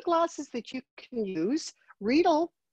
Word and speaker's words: Riedel: Riedel rhymes with needle, so it's the correct pronunciation.